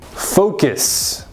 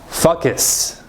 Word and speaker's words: focus: to focus so again make sure you say the vowel sounds correctly focus not focus come on guys focus